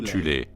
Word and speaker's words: Thulé: Avant la montée du régime national-socialiste, il existait en Allemagne une société secrète occulte appelée la Société de Tulle, parfois prononcée alternativement Thulé, composée de sous-factions en son sein.